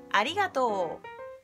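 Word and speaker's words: ありがとう: Ay Ari y gatu la primera frase es Ari y gato una niña que se llama Ari y su gato gato y en japonés sería Arigato que significa Gracias queré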